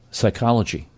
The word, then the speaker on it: psychology: Psychology. P is silent.